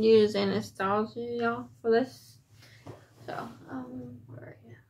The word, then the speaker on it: Anastasia: So, Anastasia. Anastasia, that's how you say it. Not Anastasia.